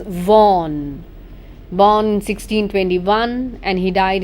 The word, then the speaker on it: Vaughan: fourth poet henry vaughan please pronounce his name properly friends this is vaughn born 1621 and he died in 1695.